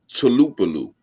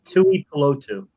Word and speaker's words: Tuipulotu: So how you say it? Tulupalu? Tuipulotu. Yeah, I was close.